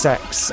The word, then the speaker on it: CeX: Uh, the CEX, uh, pronounced sex actually, but I refuse to pronounce it like that.